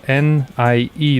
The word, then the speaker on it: nie: Well, it's spelled N-I-E though. You know, no, nie. Well, nie, nie. Yeah, something like that.